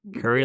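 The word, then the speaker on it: Curie: I always tell people that it sounds like, Curry like the radiologist.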